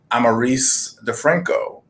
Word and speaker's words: Amarise DeFranco: animator and she goes by the name of amarice DeFranco did I get that right the pronunciation yes you did okay perfect perfect perfect